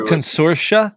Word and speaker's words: Consortia: Was it Consortia, Sheila?